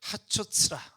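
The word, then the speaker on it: חצוצרה: 제가 조금만 더 설명을 드리면 이 양각 나팔을 쇼파르라고 하고요, 은나팔은 하초츠라 이렇게 발음을 하는데, 양각 나팔은 출애굽에서부터 등장합니다.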